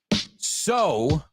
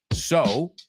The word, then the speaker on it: sew: Sew rhymes with blow. Correcto. Sew, coser s e w, rhymes with blow, soplar.